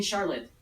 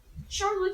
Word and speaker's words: Charlotte: and face so I'm supposed to call you Charlotte is that how you say it yeah yes yes great Charlotte Charlotte Charlotte Oh now to get to know